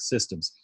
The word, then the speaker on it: CSDMS: system or CSD AMS the acronym for which if you say it with the soft C sounds like systems I'm I'm